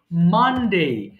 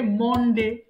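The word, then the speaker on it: Monday: সডে সানডে এরপরে বল মানডে কিন্তু এখানে ভুল কোনটা বেশিরভাগ বলে মনডে মনডেটা ভুল হয়ে গেল সেটা হবে কি মানডে এরটা মাইফোন অফ রাখব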